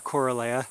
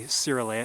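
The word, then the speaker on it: coerulea: well, firstly, this is aqualia corala or sora, however you want to pronounce it. You can say siraa if you want to be truly accurate, but really no one wants to pronounce Latin fully accurate.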